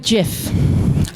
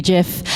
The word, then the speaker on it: GIF: I'm going to go with GIF, like giraffe.